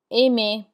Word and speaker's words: aimer: The ER has an A sound like AY, danser, chanter. Then we have parler, which is to speak, parler, aimer, which is to love or like, aimer.